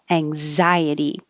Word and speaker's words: anxiety: like xenophobia but then here's a really good example of it's in the middle of the word and it sounds like a z anxiety and this one is